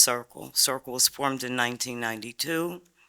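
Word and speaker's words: CRCQL: I am the chairperson of Chester Residents Concern for Quality Living, or pronounced CIRCLE.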